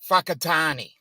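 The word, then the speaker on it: Whakatāne: with a high a wh is pronounced as an F so there is a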